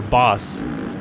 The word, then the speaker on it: Bas: It could be Vason, but I think it's Bass Vasson, or Boss would be how you pronounce his first name, B-A-S.